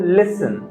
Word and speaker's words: listen: For instance, if I'm using the word listen, listen to me, there is no sound of T.